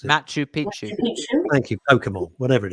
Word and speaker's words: Machu Picchu: well and did something in in South America Pika Pichu I can't pronounce it Machu Picchu thank you Pokemon whatever it is and they